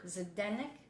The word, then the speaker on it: Zdenek: Zdenek. How do you pronounce it? Zdenek. Zdenek? That's it. Zdenek.